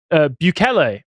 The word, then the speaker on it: Bukele: No, Don't put your hand up shortly after saying I'm going to be talking about Bukele, who I learned how to pronounce his actual surname.